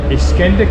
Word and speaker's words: İskender: So today we are trying İskender kebab, is that how you say it?